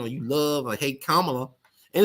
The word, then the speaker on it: Kamala: It's Kamala, not Kamala. It would be Kamala if she was black. It'll be Kamala, but she's Kamala. You know, Camelot. This ain't Camelot.